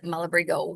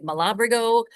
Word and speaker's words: Malabrigo: Mashida and Anverario and Malabrigo on its own is Malibrigo. We have people come in and say Malabrigo Malabrigio.